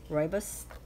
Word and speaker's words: rooibos: you know I didn't ever know how to pronounce that until I looked it up rooibos tea and some of these came from our